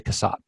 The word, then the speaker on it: Cassatt: should know how to say this how to pronounce this person's name Cassatt we're gonna say Cassatt the painting purportedly by Mary Cassatt is a